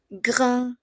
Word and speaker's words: grand: Entonces tenemos il est grand. Oui, grand. En este caso, como es masculino, solo se pronuncia hasta la N, ¿d'accord?